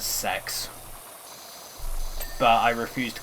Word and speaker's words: CEX: It's actually pronounced as sex, but I refuse to call it like that.